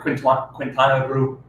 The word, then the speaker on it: Quintana Roo: through Quintana Roo. Went to Playa del. Quintana Roo. Is that pro? Oh, shoot, really? Yeah. Quintana Roo. Quintana Roo. Like quince. Quintana Roo. Quintana Roo, like an Asian Quintana person.